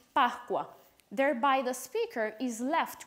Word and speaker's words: Pascua: They would be pronounced in two different ways. In Italian, Pascua, and in Venezuelan Spanish, Pascua.